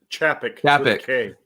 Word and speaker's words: Chapek: So Bob Chapez, is that right, Max? Chapez? Chapek. Yeah, that's what I thought.